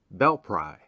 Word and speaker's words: Belpre: in ohio is belpre short for bell prairie and is now locally pronounced bell pry settled by revolutionary soldiers on the marietta grant in 1789 and 1790.